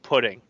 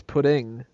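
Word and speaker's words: puddin': say say the word pudding if you say it wrong you don't get it well she says pudding then there's definitely an issue she's gotta say puddin yeah exactly there's no g in it there's a it stops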